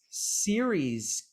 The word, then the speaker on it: Ceres: Where is Ceres, California? Is that how you say it? Ceres, California? Ceres, it's after the goddess Ceres.